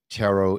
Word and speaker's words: tarot: Tarot. All right, like, yeah. Yes. I would say no to the tarot. That sounds like carrots.